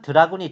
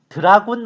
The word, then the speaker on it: 드라군: 하지만 드라군이 출동하면 어떨까? 드라군! 이 드라군 노래의 주인공인 드라군은 질럿과 더불어 프로토스 지상 유닛의 대표격인데 혼자서 돼지, 대공 다 해먹는 매우 유용한 유닛입니다. 드라군이라고 하지만 실제 발음은 드래군이에요.